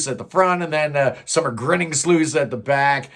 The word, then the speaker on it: Sommergryningsljus: there you go that's how you say it summer grinning slle well the album opens up up with a